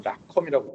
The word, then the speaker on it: ROCm: 엔비디아는 CUDA고 아시다시피 네, AMD는 이제 여기 사실 M을 소문자로 쓰는데 ROCM, 오늘 ROCM이라고 있지만 그 AMD에서 오신 미국 분은 락컴이라고 하더라고요. 그거는 이제 컴퓨팅에 관한 거고요.